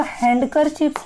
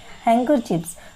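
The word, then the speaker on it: handkerchief: उसके बाद हैंकर चिप्स, देखो इसको हैंडकर चिप्स नहीं पढ़ना है, इसमें जो डी होता है वो साइलेंट होता है, हैंकर चिप्स।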